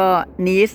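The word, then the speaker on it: Nice: เขา เรียก ลียง ไง แล้ว ก็ นีส น่ะ มัน สะกด เหมือน ไนท์ ของ ภาษา อังกฤษ อ่ะ เรา ก็ เลี้ยง ไหน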